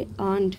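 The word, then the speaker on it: earned: अब यहाँ पर भी आर साइलेंट होगा, यहाँ पर इसे पढ़ेंगे अर्नड fame by selling her milk, यानी कि गाय के दूध को बेच करके।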